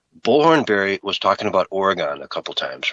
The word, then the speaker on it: Oregon: And on the 3rd time, I'm like, dude, you're pronouncing that wrong. Yeah. And I'm like, I only bring it up because I know people from Oregon really don't like it when you call it Oregon.